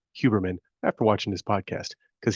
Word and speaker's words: Huberman: huberman huberman let me I learned how to pronounce that correctly huberman after watching this podcast because he has a